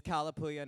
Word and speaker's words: Kalapuya: It's Kalapuya, not tilapia.